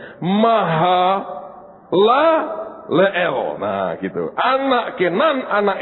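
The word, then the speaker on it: Mahalaleel: Nah, ini r angel bacanya maha lael.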